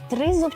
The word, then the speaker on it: тризуб: Йому потрібно було знайти правильний наголос у слові тризуб чи тризуб. От він просто забув цей наголос. Ти, до речі, знаєш, який наголос правильний? Да, Тризуб. Молодець.